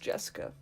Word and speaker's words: Jessica: Anyway, it's pronounced Jessica.